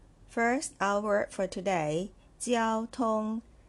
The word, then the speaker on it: 交通: First, our word for today, 交通 , 交通。Let's look at the first character.